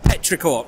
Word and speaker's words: petrichor: unusual Asian games okay now how do you pronounce that petrichor petrichor right so please the pleasant person smell after